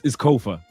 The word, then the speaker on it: Kofa: Is it Kofa? It's Kofa. Because if I was like, it rhymes with sofa.